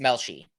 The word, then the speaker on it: Melshi: Is it Melshi? Yes, Melshi. Yes, Melshi. I'm almost positive that's how you pronounce his name.